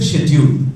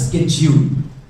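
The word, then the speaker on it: schedule: जैसे शेड्यूल एक वर्ड है इंग्लिश में, अब इसको अमेरिकन इंग्लिश में इसको बोला जाता है स्केड्यूल, पर बहुत से लोग क्या करते हैं, इसको अमेरिकन इंग्लिश के नाम पर स्केड्यूल बोलते हैं, व्हिच इज एब्सोल्युटली रॉन्ग। या तो स्केड्यूल बोला जाएगा या इसको शेड्यूल बोला जाएगा, करेक्ट दोनों ही।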